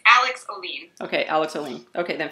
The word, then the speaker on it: Ohlin: What's the proper pronunciation? Oolen. Yes. Oolen. Oh, so the emphasis on the second salaba. Oolen.